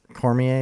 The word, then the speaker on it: Cormier: say his last name it's like cramer cormier cormier is that how you say it yeah so